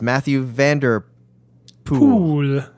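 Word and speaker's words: Mathieu van der Poel: Vander pol in the poll the OE is pronounced like the one and shoe so it's Matthew van der pool pool cue Bukowski is a pole and not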